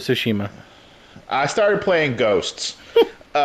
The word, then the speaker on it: Tsushima: of shima tsushima sushima i'm not not trying to mispronounce this word i don't really know how to say it it's sushima shashima it's ghost of tsushima i started playing ghosts